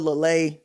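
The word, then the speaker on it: Uiagalelei: he when he says it when he says it right la lay l-u-h-l-a-y but see people get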